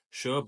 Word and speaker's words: Sobha: look at the history and Global footprint of sha and yes it is pronounced Sha Sha was founded in 1976 by